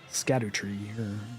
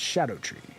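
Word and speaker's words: Scadutree: Shadow tree or look like Shadow tree it's scatter tree but apparently it's pronounced Shadow tree don't know if that's a George thing or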